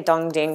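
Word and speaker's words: Dong Ding: website it's uh the it's like they say dongding but it's like spelled like this Tong Ting um charcoal roasted oolong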